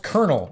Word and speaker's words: Colonel: comes back he's like it's pronounced Colonel and it's the highest rank in the military anyway hmm so we're